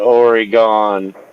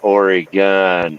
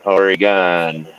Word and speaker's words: Oregon: Everybody calls it Oregon. They're like, no, pronounce it Oregon. Oregon. How it's pronounced.